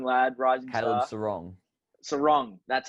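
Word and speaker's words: Serong: Yeah, including, can't pronounce his name, from Freo, the young lad, rising Caleb star. Sarong. Sarong, that's how you say it.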